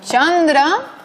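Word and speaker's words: candra: Así, por ejemplo, palabras como chandra, como chakra. ¿Qué significa Chandra? Luna, y chakra, rueda. Estas palabras deberían transliterarse con una consonante C, sin H, porque en sánscrito lo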